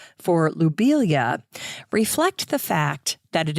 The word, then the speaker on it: lobelia: I used to say lobelia, but now, knowing the French pronunciation of his name, I'm going to say lobelia instead. Subtle little change, lo versus lou, but lou would be the more correct pronunciation.